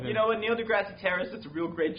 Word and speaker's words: deGrasse: Oh, yeah, I say his name wrong all the time. Neil deGrasse Tyson? Yeah. Not Terrace.